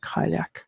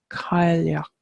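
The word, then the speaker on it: Cailleach: our Kabira boss and some people would pronounce would not be pronouncing Kyle AK correctly so it's Kyle yuk and again there's like kind of a roll or a softening on the ales Kylie och and it literally translates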